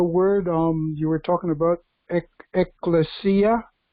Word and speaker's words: ecclesia: I want to just comment about the word you were talking about, ecclesia. That's the way it's supposed to be pronounced. It's an old Latin word, and it's also when